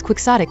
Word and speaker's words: quixotic: This, it seems to me, is entirely consistent with pronouncing Quixotic as Quixotic with the accent on the sought syllable.